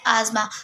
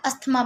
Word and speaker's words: asthma: सो the first respiratory disorder is आजमा। Some people pronounce it एज अस्थमा, बट इट इज़ नॉट अस्थमा, इट इज़ आजमा।